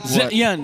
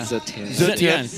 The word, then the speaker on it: Zetian: Is that how you properly pronounce it? Zetian, yeah. Zetian.